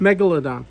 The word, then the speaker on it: megalodon: do you pronounce this again how do you pronounce it megalodon there you go and when i got a